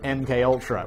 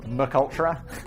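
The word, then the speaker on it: MKUltra: And in 1953, he was asked to head up the new project MK Ultra, which I once pronounced Mccultra.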